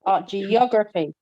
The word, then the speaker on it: geography: in the word is with the suffix c y t y p h y g y e l stress falls on the second syllable preceding them okay like okay who can read photography yes photography so the stress in talk photography geography geography yes excellent geography okay orgraphy